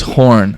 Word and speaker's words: Horn: Horn. Horn. Yeah, like the horn.